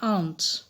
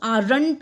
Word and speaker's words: aunt: इसमें जो R है वो बहुत ही साइलेंट होता है. Silent in the sense complete silent भी नहीं, बहुत ही धीरे से प्रोनाउंस होता है. आंट, दैट इज आंट, ठीक है.